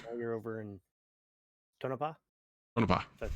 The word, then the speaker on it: Tonopah: Tonopah. That's how you pronounce it.